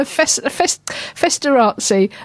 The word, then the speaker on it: Festorazzi: It's Festorazzi, like paparazzi.